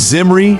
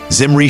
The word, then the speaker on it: Zimri: Zimri starts with a voiced Z, while Al-Samri uses an unvoiced S. Close, since they're both toothy sounds. Zimri's shorter, 3 syllables, versus Al-Samri's 4, and Zimri ends with a short vowel, while Al-Samri raps with a long E.